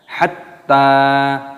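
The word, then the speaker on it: حتى: Di sini taknya berharokat tasdid, maka dimasukkan, diidghamkan, ditekan. Hatta dipanjangkan taknya.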